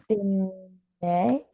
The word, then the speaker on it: dîner: Dîner. Dîner, oui. So we saw that the ER makes kind of a single sound and it's the E with Oui.